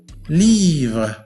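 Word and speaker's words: livre: لي فغ، ليفغ، ليفغ، ليفغ، وتعني كتاب، ليفغ. كيف ننطق هذه الكلمة؟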